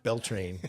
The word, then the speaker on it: Beltane: It rhymes with Schmeltane. Oh, Beltane.